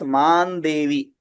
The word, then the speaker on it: मां देवि: Now see here also we are seeing after mam that anuswara we have devi. So we are pronouncing it as man devi.